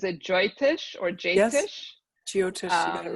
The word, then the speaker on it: Jyotish: So I know you do, and I'm going to try to pronounce this, but is it Jyotish or Jyotish? Yes, Jyotish, you got it right.